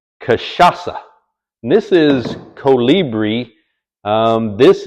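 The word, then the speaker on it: cachaça: This is Novo Fogo Kashasa. I think that's right. Kashasa. It looks like Kachaka. C A C H A C A. Brazilian, but it's pronounced Kashasa.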